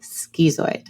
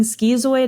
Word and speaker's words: schizoid: And my hypothesis is that we have adopted this type of way of saying schizoid as a field to further differentiate it from schizophrenia, which means that we probably are using the Greek stem versus other stems.